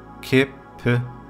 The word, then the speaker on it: kæppe: The second word kæppe, kæppe, and then the whole word kæppe. Next one is knækker, knækker, knækker. The last word is næppe, næppe, næppe, næppe. And the whole sentence again. Kæmpe, kæppe, knækker, næppe.